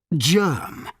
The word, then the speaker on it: germ: The letter G sometimes sounds soft. It sounds like J in jump. Germ.